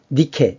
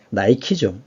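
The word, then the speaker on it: Nike: 월계관 보이시죠 승리의 여신 니케 있니다 니케 영어 발음으로 나이키 나이키 그다음에 그 에베소에 있는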